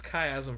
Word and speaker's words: Chiasm: chasm or what is it so it's it's chiasm for those that's here so so chasm is